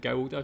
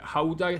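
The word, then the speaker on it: Gouda: with regards to Howa I have always pronounce it GAA sorry about that but Howa cheese what other cheeses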